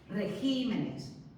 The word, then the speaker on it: regímenes: En el caso que os he dicho, por ejemplo, de régimen, cambiamos la sílaba tónica. Régimen, regímenes. Y eso es para evitar la sobresdrújula, porque repito, la sobresdrújula en castellano no existe.